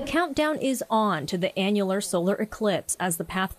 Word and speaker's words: annular: Society of Nevada says some people mispronounce it as an annual Eclipse but it doesn't happen every year annual refers to uh